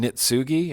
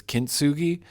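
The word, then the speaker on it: Kintsugi: the week before the the Kintugi that I call kept calling Nitsugi and that's not even close to how it's pronounced. It's Kintugi.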